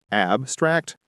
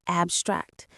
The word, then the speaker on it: abstract: and abstract. Which is correct? Good ear. Both are correct. As a verb, the stress goes on the second syllable, abstract.